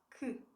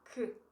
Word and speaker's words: que: The other letter that gets dropped a lot, that vanishes, is the E. So you have K. You have three letters, yet you have the sound K. It's one sound only.